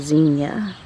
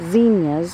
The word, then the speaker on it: Zinnia: So it's pronounced Zinnia, but I always say Zinnia. I think it's correctly Zinnia, but I just can't say it that way.